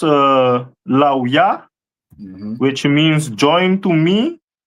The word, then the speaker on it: Levi: This is the tribe of Levi, which is pronounced Lauya, which means join to me, and the stone is carbuncle.